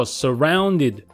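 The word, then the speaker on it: surrounded: これはですねこれも最初の音は同じなんですよね曖昧オンでそして次がこういう風になってるんですけどこういう音ですねはいここの音は全く同じ曖昧なので弱い音ですねという音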